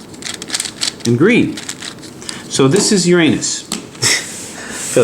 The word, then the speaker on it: Uranus: good no not neptune was it uranus that's actually how to pronounce it by the way aha it is okay